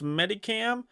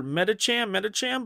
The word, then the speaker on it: Medicham: Like, I used to pronounce Medicam. Or Medicham, but then I heard somebody say Medicam, and for some reason I like that better, so I've been saying Medicam.